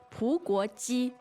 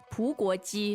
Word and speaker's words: 葡国鸡: 葡国鸡. 葡国鸡. 葡国鸡.